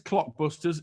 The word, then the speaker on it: Clockbusters: I think I may have mispronounced it and left out the L. So, it is Clockbusters.